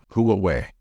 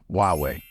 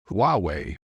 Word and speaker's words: Huawei: say this one as H away however English natives don't say it this way in English the H becomes silent so it should be pronounced as huwei however more and more